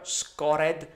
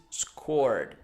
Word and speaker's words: scored: so scored scored okay I don't want to hear Scott ed score the score read right pronunciation is scored number eight the balloon